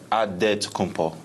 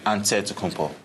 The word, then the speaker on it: Antetokounmpo: He helped set the record straight of how you pronounce it. In a Greek way, you gotta say with a D, so it's Antetokounmpo. But in the Greek way, you say with the NT, like Antetokounmpo.